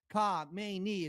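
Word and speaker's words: Khamenei: We now know that the Ayatollah Ka Mayi as they always like to say, or as they pronounce it over there, was killed.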